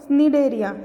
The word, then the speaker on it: Cnidaria: Next हमारे क्या हो गया, इनको छोड़ो, निडेरिया। देखो इसकी स्पेलिंग है फाइलम 2 CNIDARIA या फिर सीलेंट्रेटा। इसको सी साइलेंट रहता है, इसको बोलते हैं निडेरियन के नाम से हम इसको जानते हैं।